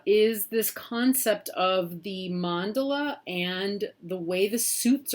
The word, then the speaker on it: mandala: concept of a mandala it's not a mandela it's uh i've heard a lot of really uh interesting uh pronunciations of the words but mandala is really the probably